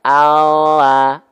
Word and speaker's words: Allah: Nah, ya kalau huruf L yang disentuhkan itu hanya bagian betul-betul hanya bagian ujung akhir lidah kita saja. Kelihatan nggak? Allah, Allah, Allah.